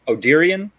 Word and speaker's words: Odyrion: got Hanzo and that is route ruins of Oh Tyrion did I say that right I did write it spell it Brett oh cool yeah like sister twister